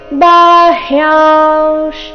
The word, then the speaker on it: ಬಾಹ್ಯಾಂಶ್: ನಂತರ ಅರ್ಧ ರಕಾರ ಬಹಿರ್ ಬಾಹ್ಯಾಂಶ ಬಾಹ್ಯಾಂಶ್ ಇಲ್ಲಿ ಬಾ ಆದ ನಂತರ ಹ್ಯ ಇದೆ ಅರ್ಧ ಹ ಪೂರ್ತಿ ಯ ಬಾಹ್ಯಾಂಶ್ ಯ ನಂತರ ಬಂದಿರೋ ಅನುಸ್ವಾರದ ಉಚ್ಚಾರಣೆ ಅನುನಾಸಿಕ ವ ರೀತಿ ಬರಬೇಕು ಬಾಹ್ಯಾಂಶ ಚರಣದ ಕೊನೆಗೆ ಅರ್ಧ